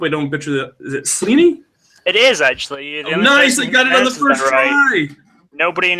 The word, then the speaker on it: Sleney: Sam I hope I don't picture that that's Leaney it is actually nobody in England pronounces that correctly excellent Sam is part of